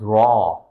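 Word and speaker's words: ر: and this one is Raw. Dal, Zal, Raw. Dal, Zal, Raw. This is like the way you pronounce this letter is like English letter R.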